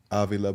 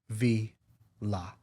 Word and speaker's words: Avila: Avila. Yeah. La. I've been saying it wrong my whole life. Avila. Because I've known these guys forever. So not, but where I'm putting the accent is Avila.